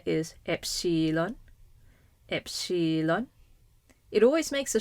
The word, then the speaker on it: epsilon: The name of the letter is epsilon.